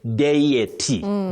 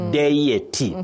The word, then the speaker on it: deity: So here when we have this word for a god or goddess you say deity. Deity that is the standard pronunciation. You can also say deity. Deity or deity. That is the way to go if you are keen on standard English.